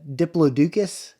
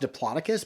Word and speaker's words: Diplodocus: it reminds me of like uh diploducus dinosaur head I think it's pronounced Diplodocus but you know like the